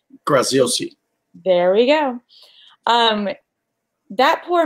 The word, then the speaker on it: Graziosi: Dean, and I don't even positively know how to say his last name, Graziosi? Graziosi.